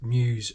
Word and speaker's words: Meus: I was contacted by I believe it's pronounced news racing m-e-us um contacted me and